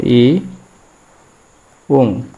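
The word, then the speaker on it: 이응: এই ব্যঞ্জন বর্ণের একটি নাম আছে, নামটি হলো ই উং, ইউং। এই ব্যঞ্জন বর্ণের নাম ইউং। এটি একটি নিরপেক্ষ ব্যঞ্জন বর্ণ। এই ব্যঞ্জন বর্ণ উচ্চারণ নেবে তখনই যখন বাচ্ছিমে যাবে। সে উপরে থাকলে এর কোনো উচ্চারণ হবে না।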